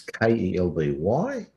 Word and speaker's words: Kelby: It's Kelby, even though it's not spelled like that on the screen.